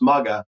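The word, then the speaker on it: Muggah: have Mr Robert mugga it's pronounced mugga and he specializes he's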